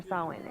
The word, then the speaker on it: Samhain: Half of these decorations are for Samhain, anyway. Samhain? You haven't been inside yet, have you? Trust me. That is not how I would have pronounced that from reading it.